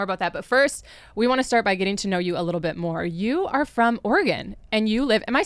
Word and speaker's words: Oregon: to talk more about that you are from Oregon and you live am I saying it right Oregon Oregon tell me how you say it definitely Oregon Oregon not Oregon okay you never know no